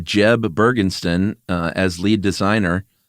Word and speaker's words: Jeb: still is named Yens Jeb Bergenston uh as lead designer. Watched a few interviews with this guy. Is it pronounced Yins? It's definitely Yens, but it's also Jeb and not Yeb.